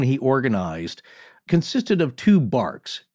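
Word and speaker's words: barque: organized consisted of two barks and that's b-a-r-q-u-e-s or or like bark like a bark of a tree or a dog and these are sailing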